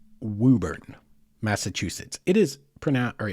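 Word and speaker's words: Woburn: It looks like Wuburn or Wuburn maybe, but it is not. It is Wuburn. Just trust me on this and say it Wuburn if you ever go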